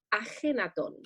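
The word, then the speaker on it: Akhenatón: me cambió el nombre por el de akenatón que si lo pronunciamos bien en español debemos decir ajenatón exacto es esta aspiración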